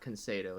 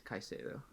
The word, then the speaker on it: Caicedo: Sorry, it's not Concedo. It's Caicedo.